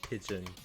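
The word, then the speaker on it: pidgin: sense with like it it's called the hawaiian pigeon not the bird it's spelled p-i-d-g-i-n but like it thinking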